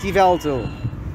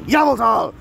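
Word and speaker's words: Yveltal: god of death and yes i know it's pronounced ivalto but there's a reason why i'm saying yabotal as opposed to ivalto which is what the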